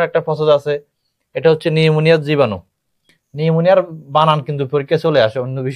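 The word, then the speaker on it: pneumonia: process আছে এটা হচ্ছে নিউমোনিয়ার জীবাণু নিউমোনিয়ার বানান কিন্তু পরীক্ষায় চলে আসে অন্য বিষয়ে চলে আসে নিউমোনিয়া বানান কোনটা পি দিয়ে কিন্তু নিউমোনিয়া বানান হয় পির উচ্চারণ হয় না আর কি আর স্টেপটোককা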